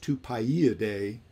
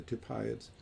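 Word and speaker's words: Tupaiidae: only the one family the two eyes in the name that should be pronounced two pi e a day um but everybody just refers to them as the two piots uh so two eyes together it's uh you have to inflect that e sound in the in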